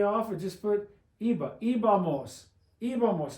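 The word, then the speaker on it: íbamos: Ibamos. Ibamos. There would be an accent on the I this time, 3 vowels back.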